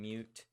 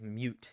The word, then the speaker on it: mut: friend uh who uh pronounces it as mute instead of mut and I hate him